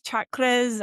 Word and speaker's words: chakra: love them chakras so the word chakra itself is a sanskrit word and every word from Sanskrit is uh pronounced a particular way and the pronunciation matters because it's like uh the way it's the energy that you're putting out into the world with each word. So it's chakra and it comes from the word chakrum.